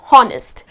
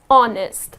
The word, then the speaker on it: honest: in our daily vocabulary honest now many people pronounce it as honnest she is such a honnest girl honnest that's incorrect you need not pronounce this edge here the correct pronunciation of this word is honest so it's just gonna be honest ok she